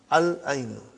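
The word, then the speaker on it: العين: We pronounce lam. Al-ainu.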